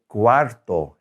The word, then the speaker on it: cuarto: and notice that looks a lot like four doesn't it cuatro but we flip that r in the t think of quartz quarter a fourth of right so cuarto is 15 or a quarter so it looked like